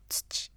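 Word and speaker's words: つち: Now if it means as like soil, you pronounce it as tsuchi.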